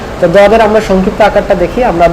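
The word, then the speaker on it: ضاد: মনে রাখবেন যে দদের উচ্চারণের ক্ষেত্রে যেন আপনার জিহ্বার আগাটা দাঁতে না লাগে, সামনের দাঁতে, জিহ্বার পার্শ্বটা লাগবে দাঁতে। জিহ্বার পার্শ্ব এবং মাড়ির দাঁতের গোড়ার সাথে আপনি লাগিয়ে বলবেন দদ।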